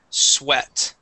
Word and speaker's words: sweat: in last class okay when we have that EA sound okay that word would then be sweat okay so it does not always make the same sound all right and and